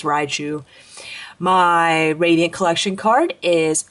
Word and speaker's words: Raichu: still double rotu PS uh sorry rotu I always put the extra syllable in there I'm very sorry people get on me all the time I know it's Raichu my radiant collection card